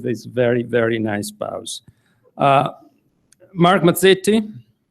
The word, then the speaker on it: Mazzetti: very very nice boughs mark mazzetti or better mark mazzetti to pronounce it add Italian Way is a native Washingtonian